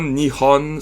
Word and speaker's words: Nihon: Mais en tout cas, fait que tu sais, c'est Ippon, Nihon, Sanbon. C'est Ich, ni San avec Hon à côté, mais à cause de la liaison, il rajoute Ippon, Nihon, Sanbon.